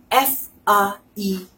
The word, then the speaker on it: faire: Now, if you have some words like this, F-A-I-R-E, C-L-A-I-R-E, P-L-A-I accent circonflexe R-E, or C-H-A-I accent circonflexe N-E. All of these words are having A-I, A-I. So, A-I is pronounced as A.